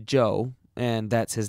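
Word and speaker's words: Chou: Joe was amazingly cooperative Joe spell @ch oh you if you want to be exotic it still pronounced Joe and that's his name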